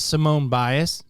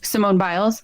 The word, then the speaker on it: Simone Biles: stop doing that I think her name is Simone bias you know are you familiar with her Simone biles mhm yes thank you I knew I was